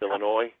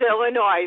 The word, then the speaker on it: Illinois: to a lady in Illinois you know yeah I I shouldn't say the S right I said the yes it's Illinois right it's Illinois that's right I'm virtually